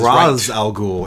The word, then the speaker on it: Ra's al Ghul: find out why Roz Ra's al Ghul is the correct pronunciation so good about that